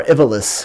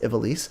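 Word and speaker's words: Ivalice: to the world of Ivelisse or if alice however you want to pronounce it I think it's pronounced Ivelisse and at least that's how they pronounce it on the game and it's the same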